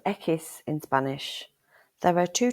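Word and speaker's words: equis: water polo sandwich the letter X is called echis in Spanish there are two types of English pronunciation it's usually pronounced like the ks in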